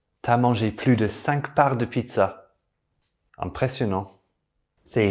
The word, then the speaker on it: plus: For these, we combine plus with de and we don't pronounce the S. T'as mangé plus de 5 parts de pizza.